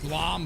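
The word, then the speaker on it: BLAME!: It's giving me Blom vibes. Like the anime Blom. B-L-A-M-E. Spelled like blame, but it's Blom.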